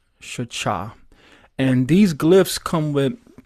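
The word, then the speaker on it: שחה: So if you put short A's in between the glyphs, you get Shachah. Shachah.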